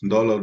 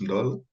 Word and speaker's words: Ndolo: And Ndolo, they make the N more pronounced. Yes. And Ndolo, not Ndolo. Or they try to put in an A or an O between the Yes.